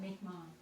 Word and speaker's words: Mi'kmaq: It's Mi'kmaq. That's how you say it, Mi'kmaq.